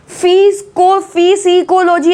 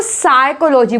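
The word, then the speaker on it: psychology: साइकोलॉजी, साइकोलॉजी, फिजिकोलॉजी ऐसे करके नहीं बोलोगे, इसको साइकोलॉजी बोलेंगे। इसमें पी क्या है? साइलेंट है।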